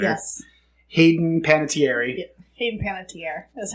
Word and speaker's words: Panettiere: Hayden Panettiere is how it's pronounced.